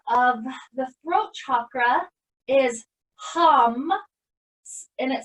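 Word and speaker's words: ham: the throat chakra is hum and it spelled H a.m. but pronounced almost more like like when you're humming almost like that hum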